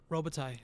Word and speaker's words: Robitaille: I think that's how you say his name. Robitaille.